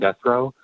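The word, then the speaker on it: Guthreau: My name is Guthrow. That's spelled.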